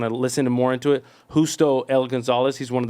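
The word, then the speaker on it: Justo: Hustto El Gonzalez. He's one of the top theologians. He's in his Spell it for those that don't know. Hustto is with a H. J U S T O Gonzalez.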